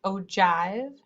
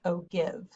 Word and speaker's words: ogive: and ogive graphs and it's pronounced oh jive not oh give fun fact so the